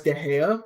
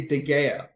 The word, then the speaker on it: De Gea: I think when I hear people try and pronounce De Gea, they say De Gea, and it's just like it's a H, not a G sound.